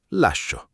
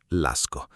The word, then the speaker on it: lascio: Notate che alla prima persona singolare si scrive con la i, lascio, non lasco. Quella i è lì per mantenere il suono dolce della SC.